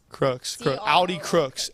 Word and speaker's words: Crooks: Debanny, I liked your analysis from how do you pronounce her last name? Crooks.